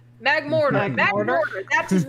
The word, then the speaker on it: Magmortar: Same with the next Pokemon, Magotar. Magmorin.